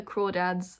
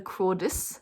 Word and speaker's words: Crawdads: that is where the crawdads sing now for the longest time i didn't know how to say this i thought i was thought it was where the crawdis sing i know it's crawdads which i thought that's a